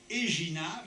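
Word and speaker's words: Éginhard: Pues en realidad Gerinaldo es la hispanización de Eginard, lo pronuncio en francés, que fue el cronista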